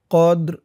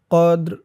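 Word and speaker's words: قدر: কদর অক করার কারণে র নিচে জেরটা সাকিন হয়ে যাবে উচ্চারণটা কেমন হবে খেয়াল করুন কদর কদর ই নাহুফি লাইলাতিল কদর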